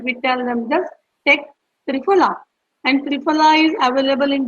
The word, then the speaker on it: Triphala: Yes, it's Triphala. Tri is try, like three, and Phala, that is phala, is the Sanskrit word for the fruit, medicinal fruit.